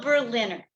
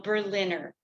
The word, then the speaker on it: Berliner: Neil Berliner. Today, my guest is Neil Berliner, pronounced like the city, Berlin plus Longtime comedy writer, stand-up, and joke writing teacher.